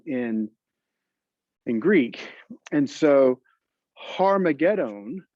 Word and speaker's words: Armageddon: in greek and so harmagedon is how it should be pronounced but when it got transliterated or moved from the greek alphabet that is into an english alphabet it became armageddon so har megiddo means mount megiddo or mountain megiddo armageddon is just really a mispronunciation of it so one of the